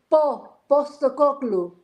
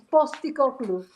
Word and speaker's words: Postecoglou: But I'm the only one who can actually pronounce his name right. Postecoglou. It's Postecoglou. Well, then he should spell it with the B, not a P. Because he's the boss, you see. It's Postecoglou.